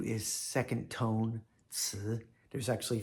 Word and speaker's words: ci: Again, second tone, ci.